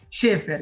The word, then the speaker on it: Schaeffer: Falei certo o sobrenome? Quase, né? Apesar de escrever Schaeffer, né? A pronúncia correta é Schaeffer.